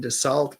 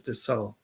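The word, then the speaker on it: Dussault: I always said back then DeSalt, but I think it was DeSault or DeSault. I think that L and T might have been silent.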